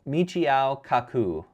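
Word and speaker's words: Michio Kaku: Michiao Kaku is how you say his name.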